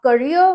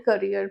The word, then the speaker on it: career: आप करियर भी बोल सकते हैं एंड करियर भी बोल सकते हैं।